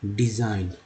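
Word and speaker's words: design: रचना डिजाइन, जी यहाँ silent है।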